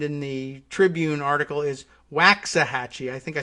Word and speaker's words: Waxahachie: that's like that but wax like earwax waxahachie because texas and they